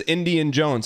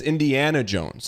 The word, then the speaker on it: Indiana Jones: and you're like yeah this is Indian Jones I'm like I don't get that it's Indiana Jones I don't what's what's